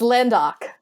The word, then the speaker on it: Landok: Man, you're going to make me pronounce this guy's name. You can just say Lorne's cousin. It's Landok.